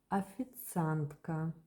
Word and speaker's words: официантка: Она, O became A, it's pronounced A, официантка.